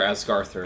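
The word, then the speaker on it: Ásgarðr: Or rather Asgarthur if we're using Norse pronunciation.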